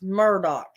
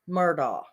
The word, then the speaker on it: Murdaugh: an education why do they call him Alex Murdock it is not spelled Murdoch it is not pronounced Murdoch it is Alex murdaugh but they don't pronounce it that way most